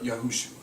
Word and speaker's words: Yahushua: reason the Yahweh people you'll either hear him say yua or yahushua the true name uh yahushua because they know again about the yahu on the beginning of their pronunciation it should be there but they're rushing through their own pronunciation so if they spell